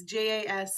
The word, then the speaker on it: Jas: And she has a little sister named Jazz, or Yas, however you want to pronounce it. It's Jas, and it's short for a much longer name.